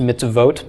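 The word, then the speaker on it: מצוות: Okay, they'll write mitzvot, it's still pronounced mitzvot, but they'll eliminate the vav from the suffix.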